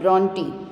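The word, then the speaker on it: Brontë: See here carefully, even though the spelling has R in that R is silent, and here I have written purposely in Marathi the pronunciation of the poetess, that is Charlotte Bronte.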